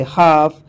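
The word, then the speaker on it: half: का तेल और देखिए अब से पहले भी लाने पर एल साइलेंट होता है जैसे हाफ हाफ और तो और के से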